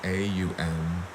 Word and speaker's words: Om: it's deeply deeply spiritual it's spelled either om or a um but the ohm symbol is comprised with three distinct sounds a U and it should